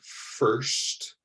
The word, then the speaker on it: first: first word the word first first you want to pronounce that like the word worst that rhymes first worst so you do not